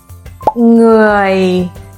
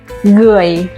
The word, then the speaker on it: người: One mistake learners often make is replacing the NG sound with a hard G sound, like người, người. But it's not correct. The sound needs to be soft and nasal, like the end of sing, sing.